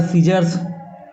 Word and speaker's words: scissors: केवल एस ई एन का उच्चारण हो रहा है। सीन उसी प्रकार सीजर्स इसमें भी नहीं हो रहा है ना?